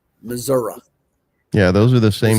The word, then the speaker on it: Missouri: Missouri. It's Missouri. We pronounce it Missouri.